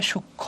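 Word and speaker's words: সূক্ষ্ম: না তাহলে কি হবে সূক্ষ উচ্চারণটা কি হবে সুক্ষ ক আর খ হবে সূক্ষ ক আর খ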